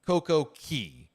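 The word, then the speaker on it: CocoCay: is both are acceptable traditionally the bohemians pronounce it key coco key but there is no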